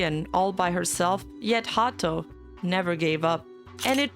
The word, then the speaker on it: Haato: To put this in context, Haato is the Japanese pronunciation of the English word heart.